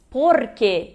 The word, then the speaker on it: porque: Se diz porque, e não porquê, né, como as pessoas pensam do português.